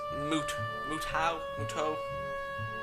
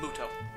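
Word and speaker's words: Mutou: My name is Muto. Let's just say the U is silent. Muto.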